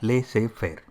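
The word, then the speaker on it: laissez-faire: followed lir is a French word it is pronounced as leay Fair and this is also called free reign leadership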